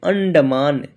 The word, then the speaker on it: अंडमान: अन मान यानी यानी इसको हम लोग पढ़ेंगे अंडमान।